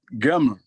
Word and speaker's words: gama: Ok, gama.